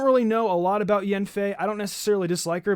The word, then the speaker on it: Yanfei: You guys told me that Yanfei is not pronounced Yanfei, it's actually Yenfei, according to you guys on my TikTok. So, I don't really know a lot about Yenfei.